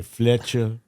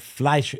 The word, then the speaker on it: Fleischer: Some people say Fletcher, Flucha, Fiachkasha, Lalapachanala, Lutanga, Lachapochi. But Fleischer is correct. F-L-E-I. E-I is an I sound. I-E is a different sound, like a re.